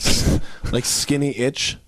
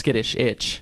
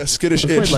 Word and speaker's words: SKiTTiSH iTZ: stuck with it and have been wrongly pronounced ever since. Oh, it's awesome. The pronunciations we get, like skinny itch. Actually, we played one show known as SKiTTiSH iTZ. Yeah, SKiTTiSH iTZ.